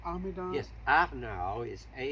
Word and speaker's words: Arnaut: Would you be able to spell that name, Arnaud? Yes, Arnaud is Arnaut.